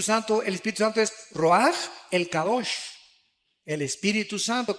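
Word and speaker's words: רוח: Se pronuncia roaj. Por ejemplo, cuando hablamos del Espíritu Santo, el Espíritu Santo es roaj, el cadosh, el Espíritu Santo.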